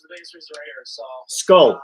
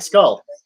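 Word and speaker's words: skål: do you say yeah cheers scull skull kind of like skull is Skull more skull than scull skull skull yeah skull very similar to um yeah it's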